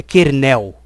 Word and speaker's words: kernel: Vamos falar eh em português assim, sem a frescura de querer imitar em americano falando. É kernel.